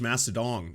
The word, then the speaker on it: Mastodon: It's pronounced Mastodon. Oh, sorry, Mastodon.